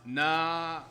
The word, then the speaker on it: Nevada: Pronounce Naveda. Naveda. Am I reading? Nah. Are you telling me it's spelled exactly the same as Nevada, but it's pronounced Naveda?